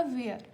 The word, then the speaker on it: wir: वी आई आर। इसका pronunciation होगा वियर। दूर क्या होगा?